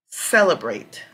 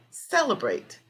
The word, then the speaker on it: celebrate: we just did and you can see here cell the first part cell is our strong syllable celebrate celebrate celebrate okay calibrate the great